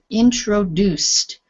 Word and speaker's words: introduced: time, this word here, introduced, not introduced. We don't pronounce all of the letters in English. This ending, because the C is it's up in your mouth, not voiced. The ED becomes T. Introduced.